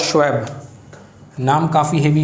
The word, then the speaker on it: Schwab: Founder of world economic forum जो है वो है क्लाउस श्वेब, नाम काफ़ी हेवी है, KLAUS, क्लाउस, सेंटा क्लॉस का ये वही स्पेलिंग है, KLAUS, क्लाउस।